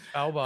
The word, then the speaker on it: Svalbard: The you just finished touring with I can never pronounce them. Is it Svalbard? Svalbard.